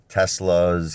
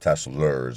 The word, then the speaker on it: Tesla: I always say it wrong. I call it Teslers. I got to get that R out of there.